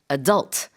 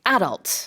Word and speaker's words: adult: And the pronunciation of this word differs depending on which part of the world you're in. In North America, they say adult. And in England, they say adult. Yes. But it's the same thing. It is the same thing. And again, it's one of those cases where choose which pronunciation you prefer and stick to it.